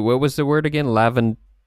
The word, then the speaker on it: Lavandula: Lavandula, but you would actually want to say Lawandula? Yes, Lawandula.